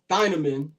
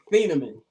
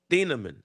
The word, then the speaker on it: Thieneman: Uh, I've been calling him Thaman all day, and I realized I was I was pronouncing it wrong, but I already did the reel and I wasn't going to redo it.